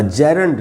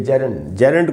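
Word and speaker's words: gerund: उसके बाद है अ जेरंड। देखिए, जेरंड को अक्सर हम लोग जिरंड बोल लेते हैं इंडिया में, जो सही उच्चारण है वो है जेरंड।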